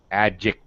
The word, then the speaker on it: adjective: just not releasing it adjective so right she's right but i disagree slightly it is pronounced it's a dark sound sometimes we call it that or an unreleased sound so yeah sure uh